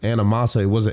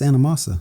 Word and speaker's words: Anamosa: And it's pronounced Anamosa. It's not Anamosa. It's Anamosa.